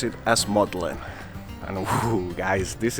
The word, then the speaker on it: Magdalen: in the Magdalene College which is actually pronounced as maudlin and that's because in the 15th century that was the way that Magdalene used to be pronounced as maudlin now the fun thing